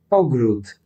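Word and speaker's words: ogród: Ogrut. Okay. Ogrut.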